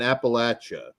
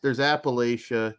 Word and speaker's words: Appalachia: cult summons daily ghost that's how you say it I used to say Appalachia and everybody correct that's how everyone should say it but the Appalachians say it like that but they're all well